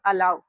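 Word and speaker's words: allow: अब देखिए इसको हम लोग पढ़ेंगे अलाऊ।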